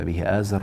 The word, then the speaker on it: Azar: In the episode of remembrance, I made a mistake in a verse, "when Ibrahim (Abraham) said to his father Azar", I have pronounced it 'athar'!